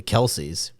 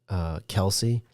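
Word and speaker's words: Kelce: One of the players on the Chiefs said, it's not even pronounced Kelsey. And then I think they had the father on the podcast, and they said it's actually pronounced. Supposedly, it's pronounced Kels.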